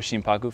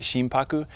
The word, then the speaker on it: shimpaku: and pronounce the word shimpaku so again if you look at the two components of the word you have shin s-h-i-n and haku which becomes paku when you combine them together now in the japanese